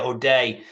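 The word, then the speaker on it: O'Dea: deer yeah yeah yeah is that how you say it o day or dear yeah OD day uh basically calling it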